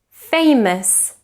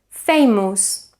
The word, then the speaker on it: famous: sofyan north in guava take a look at these words which Spanish and Catalan speakers tend to mispronounce because of precisely schwa actor famous focus consider so we shouldn't say actor famous consider and focus so again we should produce a schwa in the unstressed syllables again actor famous consider